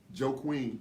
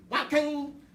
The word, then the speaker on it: Joaquin: Joe Queen. Don't say it like I got a friend that's Southern. Joaquin.